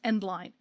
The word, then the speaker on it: endl: standard E and DL which everyone I know pronounces endline because that's what it stands for and that's what caused